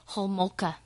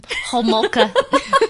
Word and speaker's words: Homolka: So, mine is about Carla Leanne Homolka. Whoa. Did you hear me pronounce that name, guys? I'll say it one more time. Homolka.